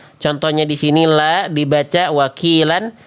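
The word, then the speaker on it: وكيلا: Contohnya di sini la dibaca wakilan. Kalau berhenti jadi mad iwad wakila 2 harokat. Jangan kurang wakila ataupun wakila. Kepanjangan, seenak apapun salah bacaannya. Karena salah hukum tajwidnya, salah cara bacanya.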